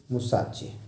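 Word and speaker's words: mustache: But science wasn't the only thing that appealed to the dashing young man with the walrus musashi. ध्यान दीजिएगा, यहाँ T silent है।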